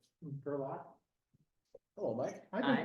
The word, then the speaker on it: Gerlach: Gerlach. Hello, Mike. I've Hi, been pronouncing I'm that all these years, and you guys have never corrected me. I've actually never caught it. You say laugh, not laugh. He's my nephew-in-law, you could say.